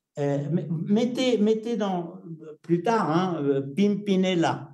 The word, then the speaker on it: Pimpinella: Plus tard, hein, Pimpinella. Pimpinella, c'est le nom d'une fleur dont la partie mâle protège la partie femelle de la fleur. Hein, c'est très joli. Ça s'écrit comme je le prononce, P-I-M-P-I-N-E-L-A.